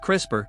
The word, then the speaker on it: CRISPR: Beyond what is crisper a crisper pronounced crisper stands for clustered regularly